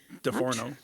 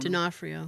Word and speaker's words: D'Onofrio: DeForno. trying to- Is that how you pronounce his name? DeForno? D'Onofrio. D'Onofrio. Sorry.